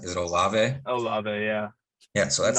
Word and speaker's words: Olave: Is it Olave? Olave, yeah. Yeah, so that's not Olave. Yeah, I was never sure how to pronounce it.